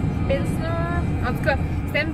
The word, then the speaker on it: Pilsner: Comment ça se prononce? Pilsner. Pilsner.